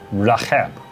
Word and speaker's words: Rahab: vit un dragon polycétonique Le mot hébreu se prononce Rahab Rahab Cela signifie la colère et l’orgueil Il est